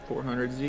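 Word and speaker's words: Nissan 400Z: I don't know how they pronounce it. Yeah, 400Z.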